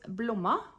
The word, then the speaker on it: Blomma: It's called Blomma. I'm pretty sure that's how you say it because the pattern designer is Swedish.